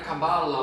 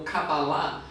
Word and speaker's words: Cabala: Então, a palavra Cabala ou Cabalá, as duas formas são corretas de se falar, tanto de se escrever também, significa receber.